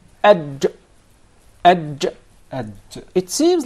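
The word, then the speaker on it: ج: There is no gim in Arabic. It is adj. Adj. Adj. It seems like it comes from the middle of the mouth. Adj.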